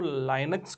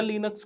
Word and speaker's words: Linux: लाइनक्स को आप लिनक्स भी बोलते हो नॉर्मली, सो आप प्रोनाउंस उसको लाइनक्स करो या लिनक्स करो, इट्स फाइन।